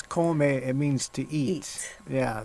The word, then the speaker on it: come: which uh in english it basically looks like c-o-m-e my mom hates that it's in it's in in spanish it's komae it means to eat